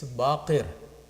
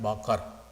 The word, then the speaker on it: Baqir: make the correction of the pronunciation of this word it's baker and it's not bakar so there are certain